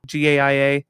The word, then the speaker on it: Gaia: To my knowledge is pronounced Gaia and that's the way it was pronounced in Captain Planet.